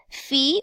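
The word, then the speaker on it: φ: little bit different here is fee or five depending on how you choose to pronounce it and it is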